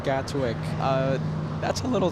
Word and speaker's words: Gatwick: London tell me that to pronounce it like the locals which I you know strive to do right correct pronunciation you have to remove the te from Gatwick uh but that's a